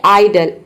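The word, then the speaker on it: idol: है पर्फ उसी तरह से यहां पर देखिए आइडल आई डी ओ एल आइडल आइडल means होता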